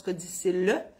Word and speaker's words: codicille: Un codicille, ça s'écrit codicille, mais on prononce codicille.